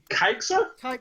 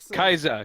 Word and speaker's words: Kaiser: Wait, are you saying Kaisa? Kaiser, yeah. Kaiser, which is how that is pronounced.